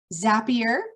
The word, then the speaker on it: Zapier: Zapier, which rhymes with happier, will send, it's basically an in-between interface.